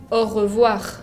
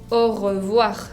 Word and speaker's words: au revoir: Primero lleva la A con U, que se pronuncia O, y después la O con I, que se pronunciaba UA, si se acuerdan.